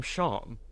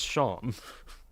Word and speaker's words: Seam: is that it it spelled seam but pronounced sham you know like sha